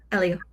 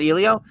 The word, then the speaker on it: Elio: Elio. Elio. It's not Ilio. Like the pizza.